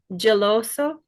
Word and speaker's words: geloso: Geloso. One more time. Geloso. Perfect. Thank you. So it is pronounced geloso. So we have our G followed by an E, which makes it a J sound like jam.